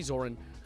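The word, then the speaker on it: Zohran: Pronounce Zoran's name right, bro? Zoran? Zoran? Can we say Zoran? I say Zoran. Zoran.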